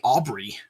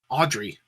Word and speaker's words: Audrey: I wanted to say Aubrey. Audrey. Oh, I've heard people pronounce it either way.